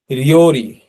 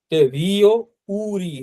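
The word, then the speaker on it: りょうり: রিওরি রিও উরি হবে না। হ্যা এটা রিওরি। এটা যেহেতু লং হয়েল। এটা একসাথে উচ্চারণ হবে। এটার উচ্চারণটা কিন্তু একসাথে হবে।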